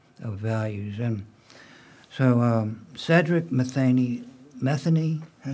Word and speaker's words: Matheny: Is that the right pronunciation? M-E-T-H-E-N-Y. Is that Matheny or Matheny? Matheny. Matheny, okay. Matheny, yes.